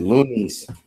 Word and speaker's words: Luden's: first they'll be the Luden's yeah looks at that you said it phonetically that's correct yep looka loonies that is